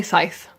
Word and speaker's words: Scythe: I'm gonna hopefully finish the book that I can't pronounce the name of. Marcus? Scythe. Apparently Scythe.